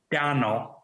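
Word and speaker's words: Domhnall: Jeff got that one tonal but with the D instead of a t and the m is just there to confuse Americans Jeff Bing boing point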